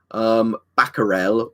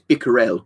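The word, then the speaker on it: Becquerel: But like Bickerels, but The one I've heard that a lot as is Baccarel or Bacurel or stuff like that. But yeah, it's definitely apparently it's Bicquerel or like Bicquerel, how you pronounce his name properly.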